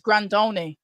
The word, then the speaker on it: Grandone: Oh, it's Grandone. I've been pronouncing it wrong all night.